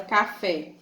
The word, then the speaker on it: café: Café, se eu for separar a palavra café, tem 2 sílabas. Café. Fé é o quê? A última sílaba. Então, se ela é a última sílaba, café. Se ela é a última sílaba tônica, ela vai ser oxítona.